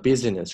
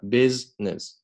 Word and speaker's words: business: 多音节词 profitability across the business 不要读成 business 这个 i 是不发音的 business OK 我们连起来读一下 Analysts were